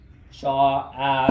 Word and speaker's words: sa: Sha, sha, right? Sha, sha is S-A, right? When you pronounce it in Hmong. Sha, and then the A is right?